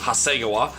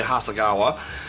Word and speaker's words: Hasegawa: of my Japanese friends tell me that it's pronounced Hasegawa here in America we say Hasegawa at any rate this is a kit that's